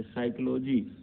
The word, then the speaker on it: psychology: ST तथा N वर्ण से पहले अगर आता है तो जैसे साइकोलॉजी में P आपका साइलेंट है, ये बहुत आप जानते